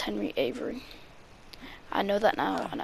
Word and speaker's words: Avery: correctly my bad guys sorry but yeah it's henry avery i know that now and i will not mispronounce it and if i do uh pretend